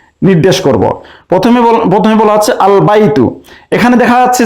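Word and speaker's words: البيت: প্রথমে বলা হচ্ছে আল বাইতু, এখানে দেখা যাচ্ছে যে আলিফ লামের লামটি উচ্চারণ হচ্ছে, তাহলে এটা হুরুফুল কমারিয়া আল বাইতু।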